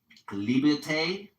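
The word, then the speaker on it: liberté: Uh, liberte is how they say it in French.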